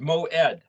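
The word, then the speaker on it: מועד: this is a keyword moed m-o-e-d is way it's pronounced but this would be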